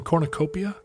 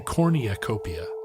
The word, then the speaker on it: cornucopia: rewards we will offer did you just put an extra syllable in Cornucopia did I say like Cornucopia yeah Cornucopia I don't know if it's an extra syllable it's definitely an extra y I heard you say